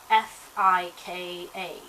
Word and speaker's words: fika: And the Swedish word of the day today is fika, which is spelled F-I-K-A. So it's pronounced fika.